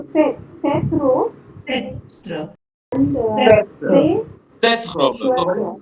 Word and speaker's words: ces: CES. C-E-S. Say. Say. Exactement. Say. Say. Say.